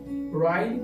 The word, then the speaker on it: Ryle: Ryle, assim que se pronuncia, chamado Santidade.